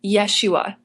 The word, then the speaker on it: Yeshua: to mention too that Aaron always pronounced Jesus's name the Hebrew way Yeshua so in the story